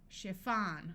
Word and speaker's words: chiffon: sound like a Orchestra in these words CH will sound like sh this usually happens in words that we got from French chef a chef is